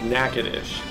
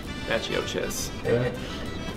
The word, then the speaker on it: Natchitoches: That is Natchitoches. But I will say, before I actually went there 2 weeks ago, I used to call it Natchitoches. That one is not pronounced the way it looks.